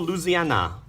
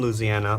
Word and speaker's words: Louisiana: Beans is an alligator, born, raised in rural Louisiana.